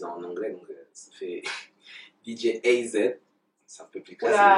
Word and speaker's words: Djaay AZ: Ouais, alors c'est tout simple, en fait, c'est DJ AZ, hein, c'est comme vous le dites. En français, il y a certains de mes amis qui le disent en anglais, donc ça fait DJ AZ.